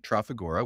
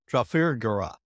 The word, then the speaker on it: Trafigura: All Texans emphasize the first syllable of any word, hence insurance, hurricane, or my personal favorite, omnipotent, hence Trafigura.